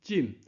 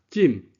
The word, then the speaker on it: 今: 这字金有一个白读音进，四声进，四声若变调是一声，今啊就是现主时。